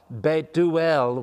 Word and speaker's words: Bethuel: Rebecca's father that's uh it looks like bethuel beuel would be the way it's pronounced and he apparently is too old to